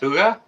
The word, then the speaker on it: hygge: paypal you or something h y g e is pronounced hygge cool is that um